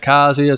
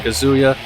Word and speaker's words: Kazuya: the final stage yeah if you're wondering why I'm saying kazia some people pronounce it kazia some pronounce it kazuya Tekken has never been